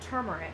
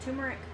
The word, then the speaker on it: turmeric: did you know that turmeric I hope that's how you pronounce that I've always pronounced that tumeric but there's are in there where I didn't think there was supposed to be one the orange spice used